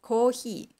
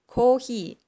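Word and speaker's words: コーヒー: just use katagana and it's pronounced kohi well it's pronounced a little different but kind of pretty similar and in Chinese we always use Chinese character we only use Chinese characters for writing for letters so in Chinese it's pronounced Cafe so Coffee Cafe in Japanese it's called he so so English Japanese Chinese were pronounced like coffee kohi cafe well which one you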